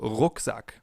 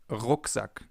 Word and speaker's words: Rucksack: This sound is different than in English. In English it would be R. In German it's R. We form it more in the back of our mouths. For example, Rucksack, backpack, Rucksack.